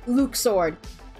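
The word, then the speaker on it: Luxord: name wrong remember because according to Kingdom Hearts 3 it's pronounced Luke sword you it's luck sword can go [ __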